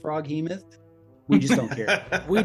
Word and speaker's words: Froghemoth: And I just want to say to our audience, we know it's pronounced Froghemoth.